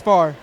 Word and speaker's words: Farre: I've been saying Pharaoh. Why don't you go ahead and pronounce it for us? It's Farre.